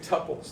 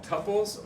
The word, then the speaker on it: tuple: surrounded by parentheses instead some people pronounce it Tuple doesn't matter Tuple Tuple either way it's okay think about um quintuple you you're going to say the word Quinn Tuple you would you would pronounce it tle right but what about this word quadruple you would say quadruple in English so that would be Tuple instead of Tuple so either way how